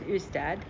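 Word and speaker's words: Ystad: we drove down south to a place called usted which is spelled istan with a Y but it's pronounced ustad this is the most Charming Town you'll ever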